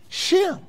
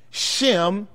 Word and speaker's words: Shem: So in the Hebrew, the H is silent. It's just Sim, Sim.